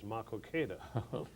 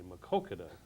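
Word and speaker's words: Maquoketa: Threlkeld, I'm the manager of the station," and I immediately paid attention, and he said, that the name that you pronounced of the town east of Cedar Rapids is actually Makokeda.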